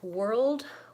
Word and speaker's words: world: a lot of similarities world and work both have vowel or so even though they're spelled with a are they're the same vowel as in person sure bird paper we really think of it as ER because we use that